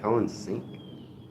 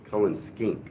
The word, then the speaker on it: Cullen skink: You ever had Cullen sink? Hello, Sam. Good to see you. That kind of looks good to me, Cullen. Wait, skink. Cullen skink.